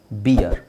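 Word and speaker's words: beer: ಇ ಆರ್ ಬಿಯರ್ ಸೊ ಇದನ್ನೇ ತುಂಬಾ ಜನ ಬೀರ್ ಅಂತ ಹೇಳ್ತಾರೆ ಬೀರ್ ಇಸ್ ರಾಂಗ್ ಬಿಯರ್ ಇದು ಬಿಯರ್ ಬಾಯ್ ಇದು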